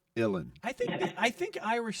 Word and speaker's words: uilleann: It's Uilleann. Like chillin', Uillinn.